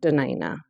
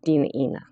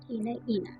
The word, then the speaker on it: Dena'ina: A lot of times um locally everyone hears it pronounced Dena'ina, but the true pronunciation is Dena'ina. Dena'ina.